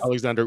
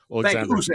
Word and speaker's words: Oleksandr: Oleksandr Usyk. Oleksandr.